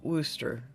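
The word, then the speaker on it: Worcester: what I'm talking about that is pronounced in Oklahoma W Wooster Wooster yeah so if you put your Boston accent on it wer um but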